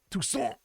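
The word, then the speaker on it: Toussaint: went to the uh duchy uh of Tucson I think is the correct pronunciation um uh and it's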